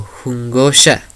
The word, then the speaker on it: jungosha: se puede traducir como jungosha. Para poder pronunciarla solo hay que tomar esa J como decimos jitomate, etc.